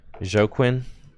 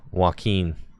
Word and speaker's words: Joaquin: Is it Joaquin? Thank you. Oh, like Joaquin Phoenix. Yup, you got it. It is. You're correct, Joaquin.